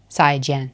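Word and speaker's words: 再见: 再见. Both of them falling tone.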